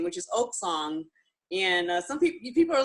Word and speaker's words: OcSong: OcSong, like an oak tree.